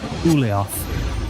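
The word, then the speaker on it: Ulyaoth: Ulioth is how you say that.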